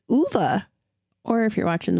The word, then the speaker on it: Ove: and comparing a man called we've been saying O but it's not it's it's UA or if you're watching the movie all yes